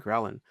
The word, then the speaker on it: ghrelin: Well, they don't talk about leptin and ghrelin. Ghrelin, when you're hungry, your hunger signals, right? Ghrelin sounds like the word growling.